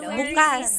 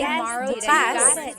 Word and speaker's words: bukas: If you say bukas, the emphasis is on the second syllable. Bukas is tomorrow. If you say bukas, means open.